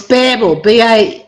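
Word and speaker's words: Bärbel: It's Barbel. Pronunciation B-A-E-R-B-E-L, and it's got the note above the A.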